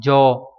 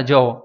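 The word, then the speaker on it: じょう: Âm ôn của chữ này đọc là jo, c hay là j, ví dụ đọc nhiều nhất là jo.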